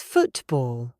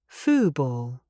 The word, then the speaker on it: football: Take the word football. If I pronounce the true T, it is football. That is very formal. Most British people will say fooball. Notice the T is gone. I cut the sound in my throat.